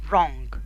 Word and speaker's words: wrong: طيب إذا جات الدبليو وبعديها ار، الدبليو لا تنطق، تكتب ولا تنطق، زي رايت، wrong.